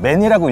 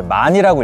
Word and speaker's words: MAN: 드렸는데 이번에도 만 버스에요네 man 맨이라고 읽기도 하는데 이제 만이라고 읽으셔야 됩니다 만이라고 써져 있는 대형